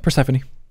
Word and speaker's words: Persephone: Persephone.